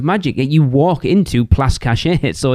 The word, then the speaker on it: Cachet: I did hear somebody call Place Cachet Place Catchy. Place Catchy.